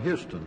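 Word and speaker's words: Huston: from Tom Charles uh Houston I believe you call it name Houston yes I believe that's the way he pronounces his name Senator sen G May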